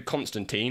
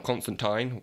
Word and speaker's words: Constantine: Well, the film definitely pronounces it Constantine. Yeah. But the name of the character in the comic books is Constantine.